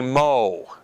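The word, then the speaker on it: mho: not making this up the unit that we measure this it is called the mo MH o it's spelt backwards and that's not by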